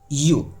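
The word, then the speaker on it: ewe: दिए उसी प्रकार है ई डब्ल्यू ई इसको पढ़ते हैं हम यू ठीक है ना इसका मतलब होता है भेड़ तो देखने में तो ये वोवेल है लेकिन इसका जो उच्चारण हो रहा है ना वो कोसोनेंट की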